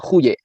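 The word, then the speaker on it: De Goeje: beliau itu dengan namanya De guye ya bacanya huye atau Ya kurang lebih seperti itu ya Jadi ada surat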